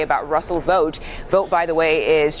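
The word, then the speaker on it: Vought: precursor to his leader his name is vote but it's spelled v ght that's that's weird ship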